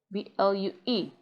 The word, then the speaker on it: blue: But when UE comes after letter L, as in blue, blue, you say blue, not blue.